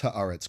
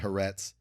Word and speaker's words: Haaretz: The description is one of many obtained by Haaretz. Some from... By the way, podcasters, everyone, just pronounce Haaretz correctly, all right? It's not Haaretz. It's not Haaretz. It's Haaretz. Let's just...